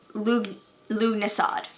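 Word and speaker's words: Lughnasadh: Lugnasad, that's how you say it.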